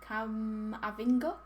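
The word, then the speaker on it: Camavinga: But yeah, how do you say his name? Cam Avinga.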